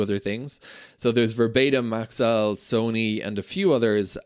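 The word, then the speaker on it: Maxell: whoever corrected my pronunciation I was calling Max L Max Maxwell which I think is a brand of tea as as well as a few other things so there's verba maxel Sony and a few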